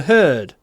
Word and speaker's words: heard: Очень странно, что глагол hear, первая форма hear, а вторая форма heard. Буквы не меняются, а произношение меняется. Hear, heard.